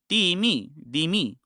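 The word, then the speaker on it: dhimmi: The accent is on the ether. So on the either. So you would say the me. And yes, it sounds like dimmy, yes.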